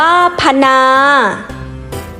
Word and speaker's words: พนา: อ่าน ว่า พญา พนา อ่าน ว่า พะ นา ทยอย อ่าน ว่า